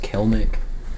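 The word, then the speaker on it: Kelenic: like, apparently, I mean, his last name is pronounced Kelnick, but I'm trying to understand that considering the E between the L and the N. Yeah, I'm not sure his name every time. I'm fairly certain that's how you pronounce it, but I don't get it.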